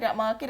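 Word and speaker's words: ب: ബാക്കി 2ലും മുകളിലാണ് ഡോട്ടുള്ളത്.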